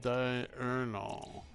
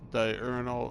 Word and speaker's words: diurnal: I was just wondering there if it's actually pronounced diurnal or if it's supposed to be diurnal. Apparently, it's from the Latin for daytime. Die. It's not the prefix for two that is sometimes confusing.